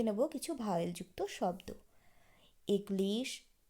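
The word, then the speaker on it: église: এগলিশ, equal, আখেপোখ, ওপিতাল, ওতেল, আখদবুশ, Eugene.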